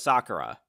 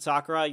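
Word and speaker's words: さくら: Gotta have to pronounce it right. I'm not. If you just pronounce it Sakura, you're speaking in English. But if you pronounce it as Sakura, then that actually literally means you're speaking Japanese.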